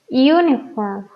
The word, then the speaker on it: uniform: A diferencia de estas dos, que las pronunciamos uniform, university. ¿Ok? Entonces, mi sonido inicial es consonántico. Uniform. Es como si estuviéramos utilizando una Y. University.